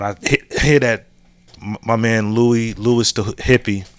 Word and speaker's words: Louis: man Louis the hippie, is it Louis or Lewis? This isn't the first time I put up some of his content and got the name wrong. I know it's Louis the hippie.